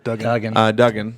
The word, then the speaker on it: Duggan: the x-men book to henry yeah duggan sorry we've been saying it wrong for so long yeah